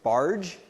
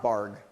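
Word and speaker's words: Bargh: work on automaticity and his name is pronounced barge not barred or bark and so what he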